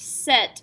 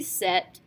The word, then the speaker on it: cet: It's very difficult to say ce followed by a vowel, so ce œuf is much harder to say than cet œuf.